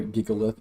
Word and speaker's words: Gigalith: We can see some fun things with Jigalith, or Gigalith, as most people pronounce it, this season.